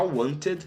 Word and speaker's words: wanted: Já wanted é realmente um D no final.